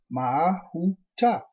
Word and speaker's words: Mahuta: Tribe 10, Mahuta, pronounced Mahuta. Stargate DNA signet code, seed location and races.